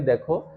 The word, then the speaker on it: the: হ্যাঁ, যদি vowel sound হয় তাহলে উচ্চারণটা কি কি হবে? দি।